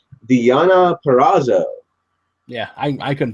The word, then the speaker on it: Deonna Purrazzo: ring against, I hope I say this right, Deonna Purrazzo. Yeah, I couldn't pronounce it. Well, okay, it's Deonna Purrazzo.